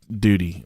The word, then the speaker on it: Dodi: That's pronounced Duty. Duty. If you look it up.